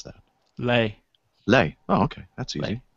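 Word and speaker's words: Lae: N guine called L AE how do you pronounce that Lei Lei oh okay that's easy so uh yeah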